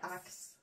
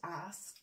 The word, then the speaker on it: ask: Yeah, it's not ax, it's ask.